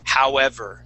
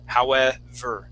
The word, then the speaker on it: however: So instead of saying however, we want to say however, like you're pronouncing an F.